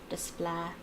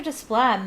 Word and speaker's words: Desplat: I know that his name is French, so you don't pronounce the T at the end, because there's no E after it.